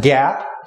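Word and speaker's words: GAAP: generally known as general accepted accounting principles or pronounced Gap and they are the standard uh framework for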